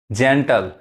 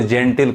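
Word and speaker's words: gentle: जेंटल, वो लोग जेंटिल कहते हैं, जेंटिल का गलत उच्चारण है, जेंटल।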